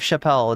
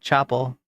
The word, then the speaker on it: Chappell: Not like Dave Chappelle. It's like Chapel or Chappelle. I think it's because I'm pronouncing it French. I'm saying Chapel, and you're hearing Chappelle. I do know that it's not Chappelle.